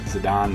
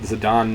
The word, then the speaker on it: Zidane: So I've learned recently that Zidane is the correct pronunciation. At least I'm pretty sure. Somebody told me that, and I believed them. But apparently it's a common name in French.